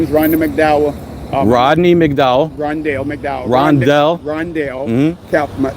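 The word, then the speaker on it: Rondale: Rondell McDowell. Rondell. It's spelled capital R-O-N-D-A-L-E.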